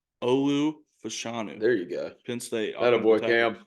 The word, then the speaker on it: Olu Fashanu: the number one overall pick how do you pronounce his name Olu fashanu there you go Penn State that a boy